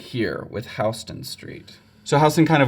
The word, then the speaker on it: Houston: island this way they start right here with houston street so houston kind of works as first street and work their way north from there i know it looks like it's pronounced houston but i promise it's houston the neighborhood just south of this is referred